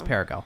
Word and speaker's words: Perrego: It's Perrego. I know. Oh my God. But yeah, Perrego. I had Perrego in my head.